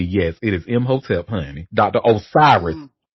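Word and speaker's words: Imhotep: Uh so his name is spelled I M H O T E P. Yes it is M hotelep honey.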